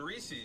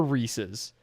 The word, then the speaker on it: Reese's: cause that's the argument for Reese's. Because then it actually rhymes with pieces.